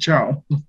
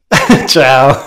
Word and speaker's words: Chao: Am I pronouncing it right? That's very right. Just Chao. Chao.